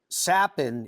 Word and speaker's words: Capan: to ask you about your last name sapen is how you pronounce it but it's spelled with the c what's what's the background